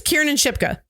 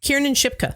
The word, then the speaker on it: Kiernan Shipka: Her name's Kiernan Shipka.